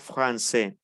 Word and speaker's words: français: vemos todas las reglas la s final no se pronuncia la a con la i se pronuncia e y la cc como una s entonces pronunciamos francés vamos aquí a ver un